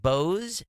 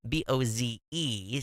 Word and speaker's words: Bose: You can see my Bose, B-O-Z-E, Sound Sport headset in the picture.